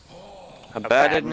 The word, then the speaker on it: Abaddon: Abaddon is the correct pronunciation.